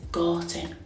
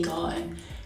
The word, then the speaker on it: Gorton: You also commented saying everyone from Gorton pronounces the T. Listen to me. Nobody pronounces Gorton. We say Gorton because we're Manc and that's how we speak.